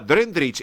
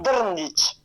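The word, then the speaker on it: Drndić: ¿Dije bien el apellido Drendrich o corríjame, por favor? Sí, es un apellido eslavo y el idioma eslavo sí. No tiene vocales, entonces es más difícil la pronunciación. Claro. Drndich.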